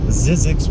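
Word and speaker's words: Zzyzx: its name there really not anything out there zizzi Road it's spelled I believe z z as in zebra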